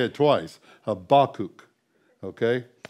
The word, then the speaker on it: Habakkuk: Habakkuk. Okay? That last U is long.